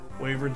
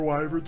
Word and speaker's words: wyverns: Or wyverns, whichever way you want to pronounce it. I've heard it both ways.